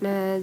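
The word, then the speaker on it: نذير: Kemudian ro-nya cara bacanya adalah tipis ya. Tipis, nadir gitu ya.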